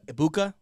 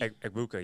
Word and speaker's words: Egbuka: In the draft, I had them drafting Ohio State national champion Emeka Ibuka, wide receiver. I said it right for I sure. call him Double E. Egbuka, yeah.